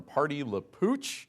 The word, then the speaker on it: Party La Pooch: So we bring in Kim now from Party La Pooch. That's right. Okay, I said it right. So kind of like Pepe Le Pew, but Party La Pooch.